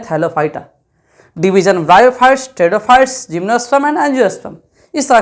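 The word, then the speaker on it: Pteridophyta: आने वाले हैं क्या टेडो फाइट मतलब टेडो फाइट इसम पी साइलेंट होता है इस बात का ध्यान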